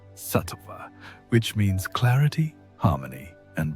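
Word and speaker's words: sattva: They called this state satva pronounced satva which means clarity, harmony and balance.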